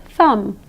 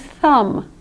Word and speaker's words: thumb: So that word is THUM, as though it's spelled T-H-U-M. You don't pronounce the MB.